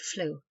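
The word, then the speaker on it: flue: ground hold the ship seamen by custom dropped the K and pronounced the word flu flamy a dish made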